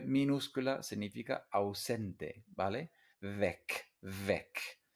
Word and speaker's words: weg: Weg, weg. Y se pronuncia muy corta, weg. No como Weg de Nicos Weg, el camino de Nico, el nombre de la serie, ¿vale?